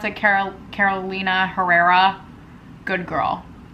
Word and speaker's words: Carolina Herrera: Oh, it's inspired by Carolina, is that how you pronounce it? Carolina Herrera.